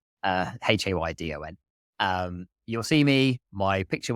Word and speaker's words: Haydon: Haydon is spelled Haydon, not Den. Everyone says Den. Haydon.